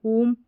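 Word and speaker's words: whom: जैसे कि यहाँ पर ये स्पेलिंग्स दे रखी है, ये सारी स्पेलिंग्स आ गई यहाँ पर, हु, होल, हुम, हुज।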